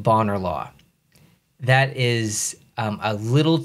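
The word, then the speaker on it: Bonar Law: this spot but I'm pretty sure it's pronounced boner law that's not how I pronounce it and that's probably not how you pronounce it it's boner law like I say boner law which is hilarious so good start here good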